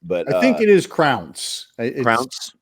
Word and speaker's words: Crounse: But I think it is Crounse. Crounse? It's pronounced like it sounds, because Stephen Thrower on that interview on that disc also has the same.